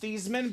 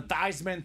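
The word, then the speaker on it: Theismann: college his name was pronounced thasan but in College of course uh you know he was trying to get the Heisman Trophy the pr staff and owner Dame said let's change your last name pronunciation the thyman thyman for the Heisman fun fact I actually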